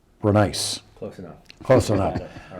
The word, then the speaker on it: Brenneis: I called him Brenneis in the one-on-one interview. Now I know it's Brenneis.